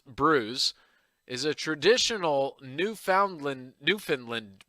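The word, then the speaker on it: brewis: of cape sin uh asterisk fish and bruise pronounced bruise is a traditional newfoundland newfoundland dish made from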